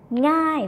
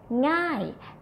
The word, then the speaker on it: ง่าย: It's nasal sound, so the sound have to go to the nose. ng. ง่าย and this word meanEasy, falling tone, ง่าย When you see this mark, can write like this or like this.